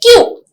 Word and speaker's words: queue: So why do you have to write all this to say the word when the word pronunciation is just Q?